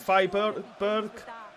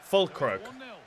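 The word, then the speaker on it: Füllkrug: Is it Freiburg? I'm not sure, but Onana's not stopping that one, and we are losing 1-0. Fulkrug, not Freiburg. That's the team, isn't it?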